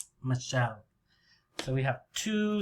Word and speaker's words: Michelle: a noob because it's the sound or here michelle michelle so we have two syllables michelle michelle maybe you can make cards